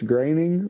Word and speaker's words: Groening: I think it's Graining, but also, yeah, no,